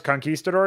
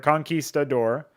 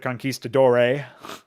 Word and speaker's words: conquistador: I'm not really a fan of it because it's 4 syllables, right? Conquistador. I guess you might even get some turbo virgins that will pronounce it conquistadore or something.